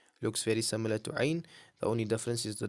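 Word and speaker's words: عين: Ain, it's a throaty sound, like a pure throat sound. Your ain is a pure throat sound, right?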